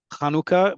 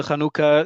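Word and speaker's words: חנוכה: It sounds like you are putting equal stress on each of the syllables of kanuka because I'm trying to emphasize the word in Hebrew the the def in modern Hebrew the default stress is always on the last syllable.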